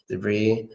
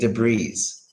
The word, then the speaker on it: debris: the answer is debrief just take away the S is only debris and it's so funny how so many Americans ain't d'bries d'bries you know is unbelievable how they say that so debris what is